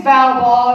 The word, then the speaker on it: Val Baul: All right, so my name's Val Baul. It rhymes with foul ball because I'm a little outside the box.